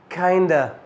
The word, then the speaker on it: kind of: زي كلمة kind of اللي هي موجودة في السنتنس دي هنعمل لها reduction فهنحولها إلى kinda. تعال ننطق بقى السنتنس كلها كده مع الريدكشن بتاع kind of.